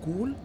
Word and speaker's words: Gol: The station we are entering now is called and pronounced Gol. Is it cool? Yeah, I like cows.